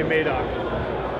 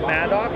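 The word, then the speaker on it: Madoc: And he's from Maidok. Mock. Yeah. I'm from Maidok. They never say Maidok. You have to say Maidok.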